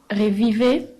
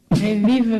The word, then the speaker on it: Revive: Revivez Festival. Arrête. Revive Festival. Non. C'est Revive. C'est un nom anglais.